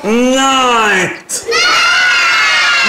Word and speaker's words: night: أي كده ال G H دي هتبقى silent مش هننطقها. هنقول إيه بقى؟ light. يلا يلا بينا هنقول night.